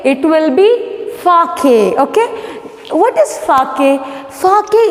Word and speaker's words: sake: Okay, see, the spelling is S-A-K-E, but when you are pronouncing it, S-A should sound like fa, okay, fa in the word father, and K-E should be rhyming with the word way, way. So, when S-A sounds like fa and K-E rhymes with way, it will be Fake?